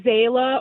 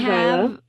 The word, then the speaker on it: Zyla: It'd be like, you could either say Zayla or Zyla. I say Zyla.